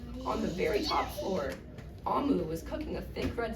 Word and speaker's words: Omu: You have to pronounce it Amu.